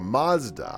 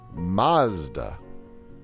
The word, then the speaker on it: Mazda: They say it with a long A in the UK. Mazda. Or Mazda.